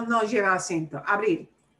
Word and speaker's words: abril: Abril. No lleva acento. This pays attention to the way we pronounce it, follows the rule. Perdón. Why did I stress that? Perdón. Abril. And here's abril. No, abril. We do punch the end. It ends in a consonant that is not N, that is not S.